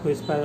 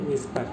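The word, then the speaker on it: whisper: এটা বাংলা উচ্চারণটা হুসপার হয়। তবে আপনার সঠিক উচ্চারণ হচ্ছে উইসপার।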